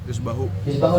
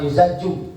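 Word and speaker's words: يذبح: Yuzbahu itu. Sehingga dia bacanya ya zal jim. Harusnya ya zal ba jim. Ba gitu. Yuzbahu bukan yuzaju. Ada yang bacanya yuzaju. Harusnya yuzbahu.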